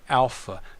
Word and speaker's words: alpha: is the letter alpha alpha this is aa as in father the second letter is